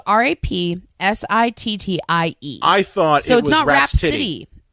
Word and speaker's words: Rapsittie: Rhapsody, it's not spelled like Rhapsody in blue. No. It's spelled Rapsittie.